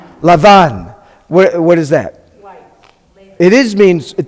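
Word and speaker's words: לבן: We got the Lamed, the Beit without the dot, sounds like V. And we've got the Nun at the end. We've got two kamatzes. How do we pronounce that? Lavan.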